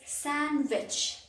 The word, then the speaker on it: sandwich: s-a-n-d the sound is sandwich d is silent here got it so san